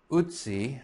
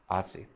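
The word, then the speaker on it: Ötzi: Now it should be pronounced Utsi, I think, but that I'm just going to go ahead and be a 21st century American and pronounce it Atsi.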